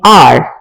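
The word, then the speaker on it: hour: अब यहां पर एच साइलेंट है और वो कॉन्सोनेंट है, वोवल नहीं है, लेकिन हम क्योंकि आर से उसको प्रोनाउंस करते हैं, एच साइलेंट है, ओ वोवल है, तो इसलिए उससे पहले एन लगा देंगे।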